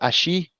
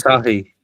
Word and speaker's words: Asahi: Is it Ashi? What do you call it? Ashi? Asahi. Is that how you say it? Asahi.